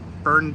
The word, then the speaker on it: Byrne: day is finally here the burn dairy in endicott and yes i did pronounce it correctly is finally open it